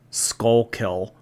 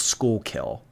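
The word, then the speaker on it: Schuylkill: I don't know um skull kill I thought it's pronounced skull kill skull kill notes skull kill wait I have those in Canada really School kill it's pronounced School kill okay School kill notes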